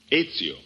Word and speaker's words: Ezio: Is that the way you pronounce it? That is right. Ezio Pinza. How's that again? Ezio.